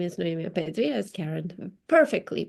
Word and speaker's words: Noemi Apetri: My name is Noa Pedri, as Karen perfectly pronounced.